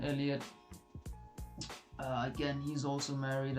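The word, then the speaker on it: Elliott: I think his season was worse than than why am I calling him Heliot, bro? It's not too than Elliot.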